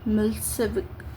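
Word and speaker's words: Milošević: A narrow-minded Serb nationalist Meloic pronounced Milseik had owned the election.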